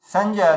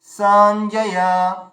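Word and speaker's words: सञ्जय: তারপরে সঞ্জয় থেকে এই সটা হচ্ছে দীর্ঘ, তারপরে দুটোই হর্ষ রয়েছে, সঞ্জয়া সঞ্জয়া, সটা দীর্ঘ, সঞ্জয়া।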